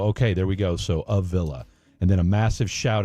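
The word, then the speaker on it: Ovilla: I'm here in Midlo 2 and it's pronounced O Villa. So, okay, there we go. So, A Villa and then a massive shout out to Blake and Freddy as well.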